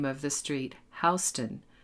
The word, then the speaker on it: Houston Street: And remember to pronounce the name of the street Houston, not Houston, like the city in Texas.